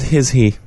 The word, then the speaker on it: HISHE: It's giving me all the HISHE stuff, which is great. I fucking love the HISHE stuff, so. I think they pronounce it HISHE. HISHE? But I was always HISHE.